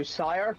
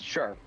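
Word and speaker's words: shire: Yeah, people go and try and go sire. No, it's not pronounced sire. It's sure.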